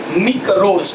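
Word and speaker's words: μικρός: The micro and macro, these are originated from the Greek word mikros. Try to pronounce it properly.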